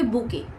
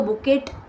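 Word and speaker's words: bouquet: बुके की spelling में जो टी होता है वो साइलेंट होता है। तो कभी आप उसको बुकेट या बॉकेट नहीं पढ़ेंगे। इट is called as बुके। Okay?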